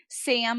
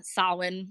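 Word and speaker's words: Samhain: charitable appearance uh so sam of course is the phonetic way people pronounce um sawin which is like sam haynes so that's sam there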